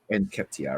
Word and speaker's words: Nketiah: I personally would prefer Lacazette and how you pronounce his name? Enkentia? Enketia. Enketia, right, good.